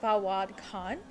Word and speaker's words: Fawad Khan: By the way, I've been saying his name wrong. His name is Fawad Khan.